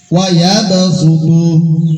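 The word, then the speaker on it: ويبسط: Wa yabsutu, tulisan shad sin bacanya wa yabsutu, terdapat di surat Al-Baqarah ayat 245 juz 2.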